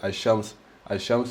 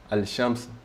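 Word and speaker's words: الشمس: al-shams, invece, no scusate, al-shams non pronunci la lam, invece al-qamar pronunci la lam, al-qamar, invece al-shams salti il lam, al-shams, brutto, al-shams, salti e vai subito sul shin.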